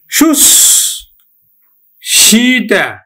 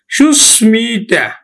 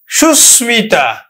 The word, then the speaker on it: সুস্মিতা: নেই তারপর দেখ সুস্মিতা তাহলে উচ্চারণ মফলা অনুযায়ী কিন্তু উচ্চারণ হতো কি মফালা অনুযায়ী উচ্চারণ হতো সুস সিটা কিন্তু এটি উচ্চারণ নয়। উচ্চারণ হবে কি? উচ্চারণ হবে সুস্মিতা। উচ্চারণ হবে কিন্তু সুস্মিতা।